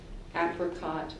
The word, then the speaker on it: apricot: Your word has two common pronunciations, so I'm going to give you both. Okay. Apricot or apricot.